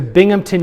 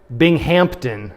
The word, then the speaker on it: Binghamton: And you know what all the kids from there called it? Binghampton, right? Because they're thinking of the Hamptons. They put a P in that.